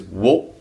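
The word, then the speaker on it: を: Most of the time, it's actually pronounced o, and it only has one function in Japanese, which is a grammatical marker, the direct object particle, which we'll learn about in a different time. So wo is really the dictionary way of pronouncing it, but o is how it normally gets pronounced.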